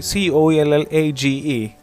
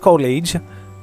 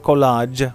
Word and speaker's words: collage: an interesting thing this is to prepare a c-o-l-l-a-g-e uh the word c-o-l-a-g is interesting because it is pronounced collage can you repeat it after me it's uh not college it's not collage or something it's collage by collecting pictures paper